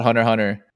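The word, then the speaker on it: Hunter × Hunter: said spy family nurge this is the same thing with hunter x hunter i think so yeah you just said you're supposed to call it hunter hunter then why is there glasses then why is there an x you're actually supposed to say hunter hunter the x is there to denote how it's spelled in japanese goes and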